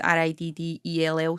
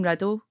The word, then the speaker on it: Riddell: wrong it's actually because my name's r-i-d-d-e-l-l so it's supposed to be pronounced Riddell but like it's always just been riddle and it just feels